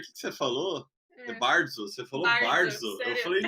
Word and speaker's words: bardzo: Bardzo. A gente fala bardzo. Bardzo. Tem que tremer o R aqui.